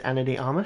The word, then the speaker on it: Ana de Armas: I'm gonna say it's Ana de Armas.